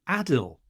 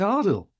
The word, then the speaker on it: Adil: this week is that he's been mispronouncing ardell's name hasn't he he keeps saying it saying Adel and it's Adel we've interviewed the Ronnie